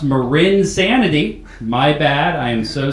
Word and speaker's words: marINSANITY: for coming out to Mars sanity what's up I'm being told that is pronounced mur insanity my bad I am